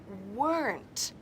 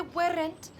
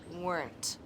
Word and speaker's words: weren't: Pero no saben que se pronuncia weren't. Dilo conmigo en casa. Se pronuncia con una sílaba. My parents weren't. Nada de weren't. Es my parents weren't.